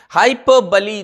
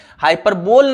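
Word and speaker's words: hyperbole: तो yes student, आपका answer अगर बी है हाइपरबली तो बिल्कुल सही है। हाइपरबोल नहीं है, इसका प्रोनाउंसिएशन हाइपरबली है।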